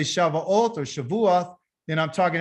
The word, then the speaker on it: Shavuot: So the Shava Oath, what is this about? What does this word Shava Oath mean? Well, in the Hebrew, Shavuot, okay, Sha, and then they got Vua, means 7.